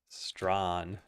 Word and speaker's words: Strawn: I didn't realize your name is pronounced Strawn until somebody else said it.